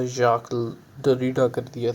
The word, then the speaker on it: Jacques: याक डरीडा कर दिया था।